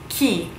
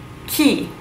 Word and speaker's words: chi: why okay so who who in Italian is key key it looks like chayo lost but it is pronounced key who gee who is it yeah